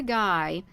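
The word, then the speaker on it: Gy: they they got a capital G and a small y they it's pronounced guy for the females and finally at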